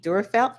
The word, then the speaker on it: Durfelt: And next, we have in our lower right, Tracy Durfelt. Now, did I pronounce that correctly?